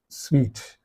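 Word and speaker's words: suite: so it's called sweet the pronunciation of this is sweet okay and uh what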